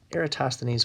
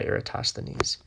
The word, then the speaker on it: Eratosthenes: like let's see here spelled like error um toss let's see here era toss the knees that's just how you